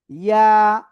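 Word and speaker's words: ياء: ইয়া। ইয়া, জিহ্বার মধ্যখান তার বরাবর উপরে তালুর সাথে লাগিয়ে এটা উচ্চারণ করতে হবে।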